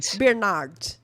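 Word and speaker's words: Bernhard: Brenhard, como que eu pronuncio isso? Sandra Bernard. Tá, ignora o H.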